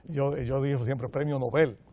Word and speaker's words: Nobel: yo digo siempre premio nobel y la gente me ve como si yo tuviera hablando en correctamente así es como se pronuncia en sueco y así es como